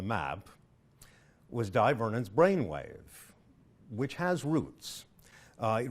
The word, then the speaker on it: B'Wave: back to the name why is the trick pronounced wave the answer is because it is a contraction of the word brain wave now the trick that